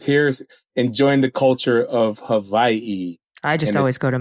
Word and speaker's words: Hawaii: I am, and also one thing I learned, cool fact, the W is pronounced like a V out here. So when people say Hawaii, it's Hawaii.